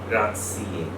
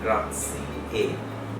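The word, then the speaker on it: grazie: কিন্তু ইতালিয়ানে মনে রাখতে হবে শব্দের শেষে ই সাইলেন্ট না, তার মানে শব্দটা হচ্ছে গ্রাজিয়ে।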